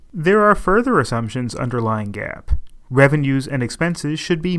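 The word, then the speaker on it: GAAS: the Generally Accepted Auditing Standards, or GAAP, pronounced GAS.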